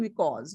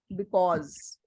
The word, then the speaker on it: because: okay because we pause any word which starts with a B you cannot pronounce it correctly without pers touching your lips because you were saying because because see lips are not touching pronunciation is wrong okay now listen to